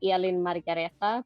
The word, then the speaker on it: Elin-Margareta: name right Ellen I mean yeah you can pronounce it otherwise it's actually Ellen margareta but you can say Eileen or Elena how